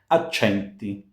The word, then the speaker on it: accenti: Accenti. Accenti. A C followed by a front vowel gives us ch. So accenti.